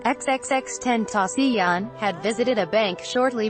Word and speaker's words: XXXTentacion: the 20 year old rapper who pronounced his stage name xxx 10th asean had visited a bank